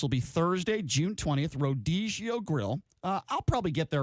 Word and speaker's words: Rodizio: Did I pronounce it wrong? It's Rodizio.